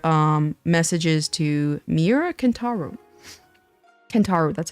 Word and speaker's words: Kentaro: this is another um messages to Mira canaro kentaro that's how that's how you say his name